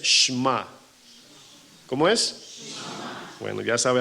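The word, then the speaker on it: שמע: la escuela de hebreos shama Cómo se dice bueno según los expertos verdad el cual yo no soy uno dicen que la pronunciación es shma cómo es bueno ya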